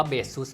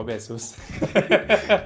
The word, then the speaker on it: Baseus: ฟัง ของ เบซ เุ มัน ออก เสียง ว่า เบซ ใช่ มั้ย ใช่ ครับ มัน ออก เสียง ว่า เบซ คือ ยอม รับ ว่า